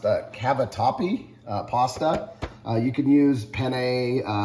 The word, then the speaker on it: Cavatappi: We're using the, I think it's pronounced Cavatappi pasta.